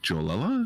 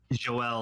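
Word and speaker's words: Joëlle: It's like Joe, but there are like 2 I's above it. So like Joel Jones. Joel Jones.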